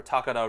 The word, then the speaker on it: Takara: And so really to wrap this shorter review up, you know, I've given Blanton's Takara Red, or Takara Red if you want to be more, pronounce it more appropriately in Japanese.